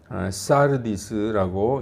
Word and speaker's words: 사르디스: 개역 성경에는 사데라고 되어 있는데 이 헬라어 성경의 발음을 그대로 가져온 것입니다. 사르디스라고 이렇게 읽습니다.